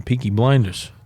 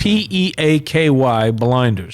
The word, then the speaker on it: Peaky Blinders: Speaking of Irish, I just started watching the Piquey Blinders. The Pinky Blinders. Peaky Peiquey Blinders. Spell that for the people that P E A K Y Blinders.